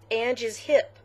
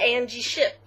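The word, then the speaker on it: angeiship: that's what it is i've been saying it wrong this whole time what that's what it is a-n-g-e-i-s-h-i-p ang is hip not angie ship i'm so sorry okay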